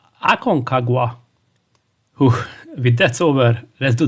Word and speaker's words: Aconcagua: delay the unavoidable and pronounce the name of the game which is aong Kwa no that's not right it should be Akon kaga with that's over let's